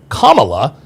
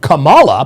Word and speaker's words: Kamala: Well, Kamala's name is Kamala, and I think the reason why they changed it to Kamala instead of Kamala, putting the accent on the first syllable instead of the middle syllable, is because when you